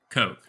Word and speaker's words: Koch: koch at the time not ironically it is spelled koch kevin coke the coke and we'll